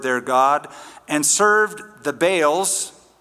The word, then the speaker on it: Baal: They forgot the Lord their God and served the Baals. Right pronunciation is Baal and Asherahs.